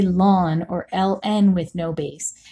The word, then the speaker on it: ln: that notation is a little bit tricky it's pronounced lon which I know doesn't maybe seem seem like